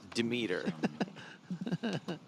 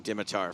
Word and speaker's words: Dimitar: Especially because his name is pronounced Demeter. Which, by the way, James and I called him Dimitar for like a decade, and then one day I heard Dan Shack call him Demeter, and I was like,